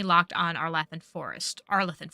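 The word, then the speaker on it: Arlathan: on our laan forest arthan forest that's how they pronounced it the veil jumpers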